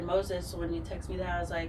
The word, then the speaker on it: Meauxzes: Moses is spelled as we do in New Orleans. So it's Meauxzes.